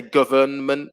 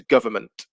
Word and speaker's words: government: uh for number two n is the silent letter government yeah we don't say government it'll be very difficult in english we don't tend to pronounce so the disappears it becomes government number three chocolate so